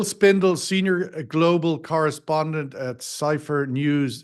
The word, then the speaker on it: Cipher: correspondent at Cipher news is it Cipher I have CIP heer I'll have to get pronounce that more accurately maybe you can share that with Cipher is that it uh okay there it is cipher first right time right um bill I